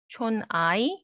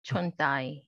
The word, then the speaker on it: 촌다이: But like people from Jeju, you know, like they pronounce it as dai, not 촌아이, but 촌다이. Okay.